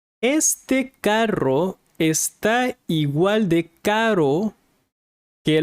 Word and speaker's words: carro: Este carro está igual de caro que los otros. So you need to learn to roll the R. Este carro está igual de caro, caro, caro, carro, caro, expensive, carro, car.